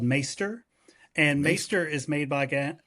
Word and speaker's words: maester: sounds okay all right so um not not master maester yeah and so I I I I in my head mentally I kept pronouncing it meister and I watched a a video of him